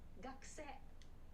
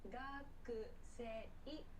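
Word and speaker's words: 学生: A pronunciation point about this word, it's not gakusei, but gakse. Gakse. So this u sound is very, very quick and soft. Gakse will make it sound natural.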